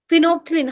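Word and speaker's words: phenolphthalein: फिनोप्थिलीन, हाँ बेटा, P silent है।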